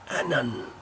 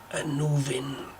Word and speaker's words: Annwn: I've seen it pronounced in a number of different ways. The simplest, Annwn. But most spellings have Anuvin spelt with an F between the W and the N, which is pronounced as a V in the Welsh language. So Anuvin or Anuvin is my preferred pronunciation.